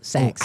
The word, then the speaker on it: Saxies: It sounds like a department store. Like Saks Fifth, right? But the new bar at the basement of Gillies, Saxies.